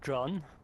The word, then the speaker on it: Can: So my name is actually pronounced John, like Oh, English okay. John. Sorry. It's yeah. I mean, no one gets it right. It's a Okay. Turkish name. Okay. It's spelled C-A-N.